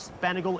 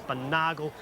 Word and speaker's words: Sponaugle: to be harvested fellows his name's not spent ago it's sponaugle that's the way it is pronounced but there's now our